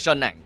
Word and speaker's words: Shen Nang: I've always been looking at Shen Nang. I hope that I'm pronouncing it correctly, right? Shen Nang Gaming. I heard her saying herself as Shen Nang Gaming.